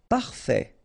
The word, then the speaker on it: parfait: Don't insist on the final Parfait. Final T not pronounced. Parfait. Parfait.